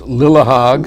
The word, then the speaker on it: Lillehaug: That lawyer might say, this Justice Lillehaug, whatever the name is, can't really pronounce the name, but the writing is clear. Well, let's make it clear that it's Lillehaug.